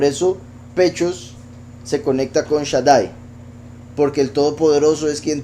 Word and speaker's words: Shaddai: aquí donde dice pechos, aparece como Shedei. Pero los que ya han visto esta palabra en otras ocasiones, han visto que esto también se pronuncia Shaddai. Y Yeshdai también.